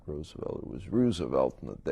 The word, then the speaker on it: Roosevelt: I dabbled a little bit in high school politics at Roosevelt High School on the northwest side of Chicago. I pronounce it Roosevelt rather than Roosevelt because it was named after Teddy.